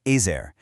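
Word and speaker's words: עזר: It's pronounced ezer, and while it's often translated as help, its real root implies something so much stronger.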